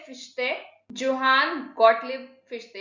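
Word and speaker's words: Fichte: देखो, और एक नेचुरल स्कूल के जूरिस्ट थे फिश्ते, जोहान गॉटलिब फिश्ते, एक जर्मन नेम है, ठीक है, और ये जर्मन में ही प्रोनाउंस होगा।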